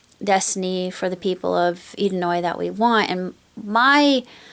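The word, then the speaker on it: Edenoi: about Alpha's origin on edino or edoy I always had wanted to pronounce it edino I guess it's it's idoi and um how they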